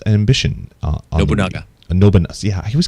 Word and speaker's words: Nobunaga: And Nobunaga's Ambition. Nobunaga. Nobunaga. Yeah, I always call it Nobunga.